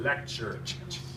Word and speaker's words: lecture: like CH so it's the T sounds like a CH so it's like leure that's how you pronounce it lecture and lecture we have